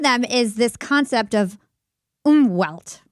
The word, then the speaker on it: Umwelt: And one of them is this concept of Umwelt, right? Umwelt. I think that's how you pronounce it. Umwelt. Yeah, that's it sounds German, right?